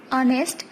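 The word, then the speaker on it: honest: অনেস্ট, এখানে এইচ উচ্চারণ হচ্ছে না সেজন্য আমরা এ ইউজ না করে এন ইউজ করব।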